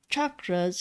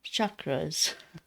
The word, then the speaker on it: chakras: There's a difference between chakras and chakras. Everybody loves to pronounce it as an S. chakras, but it's actually a ch, which is chakras.